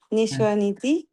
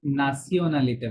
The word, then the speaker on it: nationalité: Quelle est ta nationalité? নাসিওনালিতে বলেন। Nationalité. আমার মনে হয় ফ্রেঞ্চ Quelle এটা আরো বেশি ভালো করে উচ্চারণ করে।